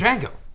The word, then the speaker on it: Django: superhero name or super my name is Jango yeah that is my name right the D is silent yeah but what about the